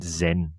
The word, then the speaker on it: XYN: given it a brand uh xyn pronoun Zin but that's not just